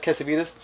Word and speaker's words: Cassavetes: It is just Cassavetes.